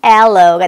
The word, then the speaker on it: aloe: 알로에 하고 발음 안 하고 영어로는 aloe가 되겠죠.